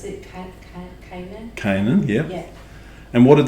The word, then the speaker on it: Canaan: lived south of, how do you pronounce it? Canaan? Canaan, yeah.